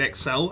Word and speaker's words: Xel: Honestly, combat isn't much to write home about, which is a shame, because like many things in X-cell, I said it right that time, yay, I really do appreciate what it was going for, it was just pulled off really badly.